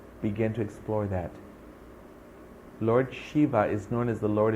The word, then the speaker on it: Shiva: they will tell you Shiva or some will pronounce him as Siva is God this is